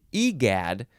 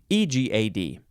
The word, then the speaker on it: egad: would want to say egad I guess but it says it's a it's an i sound at the beginning you have to emphasize the second syllable again egad uh this is I